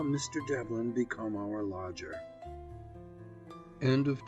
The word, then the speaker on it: Devlin: Develin, said he. Dev what? I gasped. Lynn, said he. Develin.